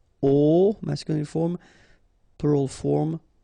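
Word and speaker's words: aux: at all and then a plus Le will become o AIX but then remember that phonetically it's O Okay so that's the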